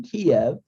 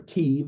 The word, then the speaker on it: Kyiv: But these groups, what is important is not only the Azov Battalion, but the official government in Ukraine, Kiev, or Kyiv, as some people pronounce it, under Poroshenko.